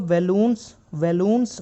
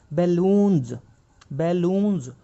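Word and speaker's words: balloons: तो हम इसको बैलून्स नहीं बोलेंगे, इसकी जो एग्जैक्ट प्रोनाउंसिएशन है वो ज से आएगी, बैलून्स।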